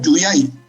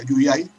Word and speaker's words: Yuyay: Yuyay, con Y, Y-U-Y, Yuyay.